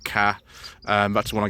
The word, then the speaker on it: Ka: very very very basic three different ways of pronouncing the name you can say car car or Ka and forward various points in their history have actually used all three I'm gonna go with